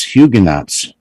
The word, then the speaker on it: Huguenots: uh devices yep and i just looked up the pronunciation of this okay yeah hugo knox huguenots really i was right where's the french where's the s coming from you said well well